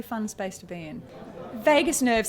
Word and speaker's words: vagus: it makes me laugh people we actually spell it incorrectly the the nurses and doctors out there think that we've think that we just can't spell it's v-a-g-u-s but we thought people might go vagus how do you say that and then we thought Vegas that's cool that's funky people want to go to Vegas um and the vagus